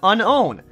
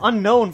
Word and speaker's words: Unown: Apparently, I need to unown unown. Unown A! I've been calling it unknown for so long. I know it's pronounced Gligar, Gligar!